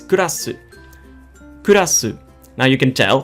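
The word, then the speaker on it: クラス: It's kurasu. Kurasu. Now you can tell that the word class actually stems from this word. So the Japanese just took the English word and they gave it a Japanese pronunciation.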